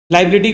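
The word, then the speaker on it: liability: देखो अकाउंट्स में ना लाइबिलिटी एक ऐसा वर्ड है जिसका प्रोनाउंसिएशन होता है बिल्ली चाय ला रही। लाइबिलिटी को पॉज दे के बोलो लाइबिलिटी।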